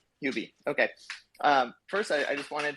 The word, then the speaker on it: Huobi: And actually, yeah, on the I'm sorry, how do you pronounce that? Huobi? Is that correct? Huobi.